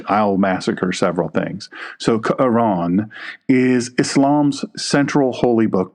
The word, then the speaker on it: Quran: It's actually pronounced Quran. It's not Quran. It's Quran.